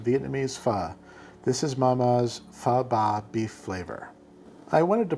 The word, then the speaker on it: phở bò: for you English speakers, it’s not called phở bò with a long O like you might think, phở bò is a Vietnamese noodle